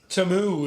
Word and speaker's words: Temu: Tamu is the way it's pronounced on the advertisement.